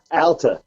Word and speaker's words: Alta: Alta.